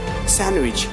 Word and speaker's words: sandwich: See, the example is like Wednesday, and handsome, handkerchief, sandwich. So here some example is telling that D is silent.